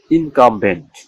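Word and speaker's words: incumbent: তাহলে ওই দুটি কনসোনানের পর ই অব্লিক আই অব্লিক এ থাকা সত্ত্বেও ইউ এর উচ্চারণ বাংলা আয়ের মতো হয়, বাংলা আয়ের মতো হয়। যেমন ইনকামবেন্ট, ইনকামবেন্ট আই এন সি ইউ এম ভি ই এন টি, যার অর্থ হলো কি বাধ্যতামূলক।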